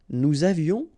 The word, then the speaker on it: nous avions: Nous avions, final S not pronounced, and then little liaison. Nous avions.